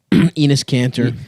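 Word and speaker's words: Enes Kanter: Enus Caner. Penis Caner. Penis. Mhm. It's actually pronounced anis, but whatever.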